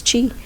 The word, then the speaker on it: qi: Yeah, it's it's spelled qi and some people will spell it chi, but it is chi chi.